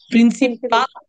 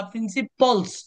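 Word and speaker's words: principles: ভুল হবে প্রিন্সিপাল না প্রিন্সিপল? উত্তর হচ্ছে প্রিন্সিপল। প্রিন্সিপল না প্রিন্সিপলস? উত্তর হচ্ছে প্রিন্সিপলস।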